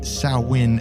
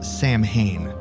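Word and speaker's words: Samhain: of Halloween disclaimer in this case File I mispronounced the Celtic holiday sawin as Sam Hayne Just Go With It also while we're on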